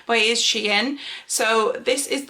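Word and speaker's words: SHEIN: trouble saying that because i always want to pronounce it sheen but is she in so this is like the palette that we're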